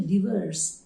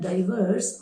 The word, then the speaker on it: diverse: It is actually diverse, diverse. It's not diverse or divorce, it is diverse, diverse.